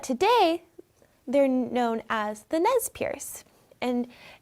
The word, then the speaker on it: Nez Perce: But today, they're known as the Nez Perce, and it's Nez Perce or Nez Perce, which is the very French pronunciation of it, which means pierced nose.